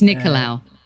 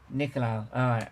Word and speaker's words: Nicolaou: just in case, like I caused offence or butchered it or anything. No, you would never do that. No, it's Nicolaou. Nicolaou.